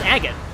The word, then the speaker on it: Agate: by the way uh she Tau me how to pronounce agot I didn't know how to pronounce it but I was proun going to Agate until until her I don't think agot is is pity is she my heart